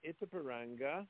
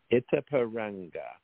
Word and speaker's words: Itapiranga: anyway that's another story so we're going to it's a paranga Brazil that's spelled i t a p i r a n g a it's a paranga Brazil the years are 1994 through 19 1898